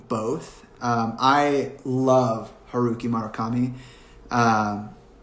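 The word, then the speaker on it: Murakami: um i love haruki marakami um marukami sorry i always say his name wrong it's always an a first not a you love him he's a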